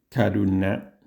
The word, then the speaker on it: karuṇā: Según las reglas de pronunciación sánscrita, sería más o menos así su pronunciación. Karuna.